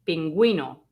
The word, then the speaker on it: pingüino: And that means that you have to pronounce the U.